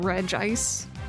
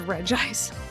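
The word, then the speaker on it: Regice: Officially, it's pronounced regist. That's That's how I would read it, but Lucario movie pronounced it reggi ice but later media use re ice Ice.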